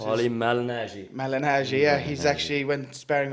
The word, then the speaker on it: Malignaggi: Like, I actually watched Paulie how do you pronounce Paulie his? Malignaggi.